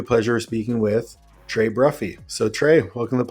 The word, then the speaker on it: Bruffey: of speaking with Trey bruffy so Trey welcome to the podcast what's up buddy well first thanks for saying my last name right most of the time everybody says bruy bruet it's always butchered I mean bruet is